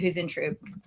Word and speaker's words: Huisentruit: So the name is pronounced this way. It's spelled a little differently, and so you'll see it when I put it all out there. But Jodi Huisentruit.